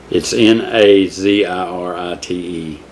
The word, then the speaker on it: Nazirite: I want to say Nazarite, but it's Nazirite.